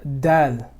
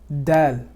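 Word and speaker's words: د: Now, when you're saying the word, the letter dal, dal, this letter is not exactly like the letter D.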